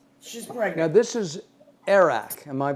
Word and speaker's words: arak: any because no she's pregnant now this is arak am I pronouncing that correctly it is arak and I'm gonna say a shout out to